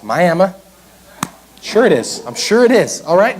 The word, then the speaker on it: Miami: go to Miami Oklahoma which is apparently that's how it's pronounced Miami sure it is I'm